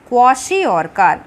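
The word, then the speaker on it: kwashiorkor: सी the spelling KWA क्वा SHI शी OR और KAR कार क्वाशियोरकर। The deficiency of proteins in the diet of small children specially causes a disease called क्वाशियोरकर।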